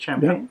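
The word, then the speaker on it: Champaign: Obana Champagne. Is it is that how you say it? Champagne.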